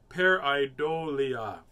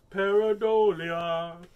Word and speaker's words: Pareidolia: phenomena is called oh it's right here you pronounce it peridolia peridolia is the man in the moon yes